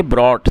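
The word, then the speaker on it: brought: ब्रॉट।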